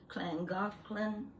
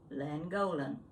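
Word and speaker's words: Llangollen: how was it yeah clangothlon wales it was spelled with the double double-l a-n-g-o-l-e-n i looked at that and i said langolin nice man on the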